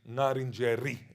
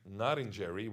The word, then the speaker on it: Ngarrindjeri: Ngarrindjeri from the English, and therefore they say Ngarrindjeri with a R, which is funny because when I say Ngarrindjeri, which is the original pronunciation, they would correct me and say, oh, no, it's Ngarrindjeri.